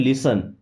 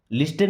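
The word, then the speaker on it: listen: लिसन carefully, इस word में देखिए यहाँ पे टी साइलेंट है, क्या पढ़ते हैं, लिसन, लिस्टन नहीं, लिसन मीन्स सुनो।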